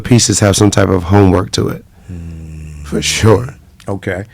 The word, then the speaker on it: HOMMEWRK: on, hence the name Homework. Yeah. That is dope. And it's spelled kind of different, too. Yeah, HOMMEWRK, Homework.